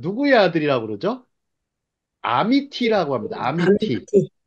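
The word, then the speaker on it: אמתי: 아들이라 그러죠 아미라고 합니다 아미티 히브리식 발음은 아미 타이요 아미타이 아미타이에 아미 타데에 자이는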